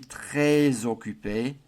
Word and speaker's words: très occupé: Je suis, and rather than saying très occupé, we're doing a liaison on the S en très. So we get je suis très occupé tomorrow, demain.